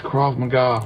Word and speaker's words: Krav Maga: It's Krav Maga.